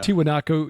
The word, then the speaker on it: Tiwanaku: build the the megalithic sites like um uh Tiano not pronouncing correctly I'm sure Tian yeah I'm conflating with tootaki the end of the world as we know it anyway uh or tiwanaku sorry yeah tiwanaku yeah Machu Picchu th those sites like that